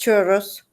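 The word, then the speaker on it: churros: pronounce that or something just churos churos churos because it has two RS so you have to drag yours chur okay so I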